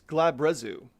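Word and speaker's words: Glabrezu: Hopefully I'm pronouncing that correctly. Let's see here. Glabrazu. Okay, so it's Glabrazu.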